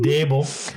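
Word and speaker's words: Daboll: I'll take the Giants and see Brian Dable. Got it. Not Brian Dabble. Brian Dable.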